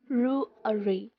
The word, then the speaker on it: February: February.